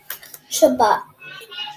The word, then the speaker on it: Shabbat: How do you pronounce this word? Shabbat.